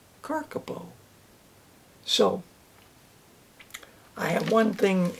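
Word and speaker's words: kakapo: Not cockapoo, Larry, it's carcapo.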